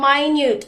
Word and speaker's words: minute: Minute differs from minute. The latter rhymes with cute and mute.